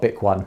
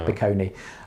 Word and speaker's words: Biconi: So, yeah, but not Bic One, it's Biconi.